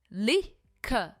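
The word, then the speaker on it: liquor: दारू को हम कहते हैं लिख। लिख। इसमें आर प्रोनाउंस नहीं होता है। यह है लिख।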